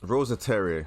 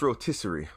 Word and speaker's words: rotisserie: Rosaterre. I think that's how you say that. No, that's not how you say it. It's rotisserie.